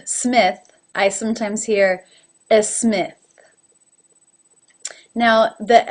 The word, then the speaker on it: Smith: other languages as well it's difficult to say any word that begins with an S without saying a vowel in front of it for example instead of Smith I sometimes hear as Smith now the S is